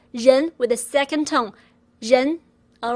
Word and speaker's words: ren: REN is pronounced as zhen, zhen, with R being zh, like J in the French name Jacques, or S in Asia, or S in measure, zh, zh, plus N as in taken, alright?